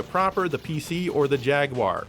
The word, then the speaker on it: Jaguar: Unless you want to play Zool 2, then it's either this, the Amiga proper, the PC, or the Jaguar, or as the British say, Jaguar.